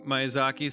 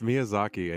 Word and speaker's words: Miyazaki: get yed that for Mis pronouncing myazaki so maybe it's Miyazaki I apologize wait you guys it's Miyazaki and you haven't seen